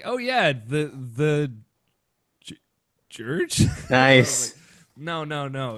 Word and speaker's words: Jurge: off the and put parenthesis after my first name George that's what I'm thinking like a phonetic pronunciation yeah George George